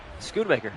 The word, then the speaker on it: Schoonmaker: He's got, Schoonmaker, right?